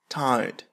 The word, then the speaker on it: tired: بالنسبة لكلمة tired بالبريطانية لا ينطقون الحرف R. Tired. بالأمريكية tired. Take a deep breath.